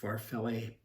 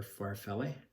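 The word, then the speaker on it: farfalle: six what ship is farfella pasta that's not how you say it far failed or far felly farfelly what ship is for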